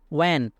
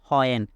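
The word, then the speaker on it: when: ওয়েন, ওয়েন মানে হচ্ছে কখন বা যখন, এটা সঠিক উচ্চারণ হবে ওয়েন। এটাকে আমরা অনেকেই উচ্চারণ করে থাকি হয়েন, কিন্তু ব্রিটিশ অনুযায়ী এটার উচ্চারণ হবে ওয়েন, ওয়েন।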